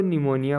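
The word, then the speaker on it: pneumonia: P silent रहता है जैसे पी एन ई यू एम ओ एन आई ए इसको निमोनिया पढ़ते हैं जो एक बीमारी है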